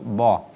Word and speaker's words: ض: langit-langit pada penuturan huruf dha. Rabbana arinal ladzaini adha. Tidak boleh dibaca doh, tapi ini huruf isti'alah.